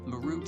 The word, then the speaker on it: Marut: Actually, his name was Marut. That's how you say it. Marut. m a r u t a root like ma your root.